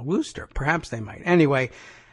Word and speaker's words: Worcester: There's a paragraph in here about, well, the convention is in Worcester, I guess is how they would pronounce that up there in Massachusetts. It's Worcester to anybody who's spelling it out.